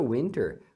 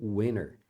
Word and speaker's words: winter: prefer Summer or Winter a palavra Winter você pode escutar também no inglês rápido as pessoas pronunciando Winner Winner então eles acabam metindo o t na hora de falar então fica Winner do